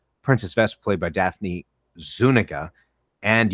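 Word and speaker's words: Zúñiga: by daphne zuniga and you also have zuniga zaniga now i'm screwed no zuniga because on the commentary mel brooks actually said how he had messed up the pronunciation and then she had her she had to correct him on the correct way to say it now dot matrix sim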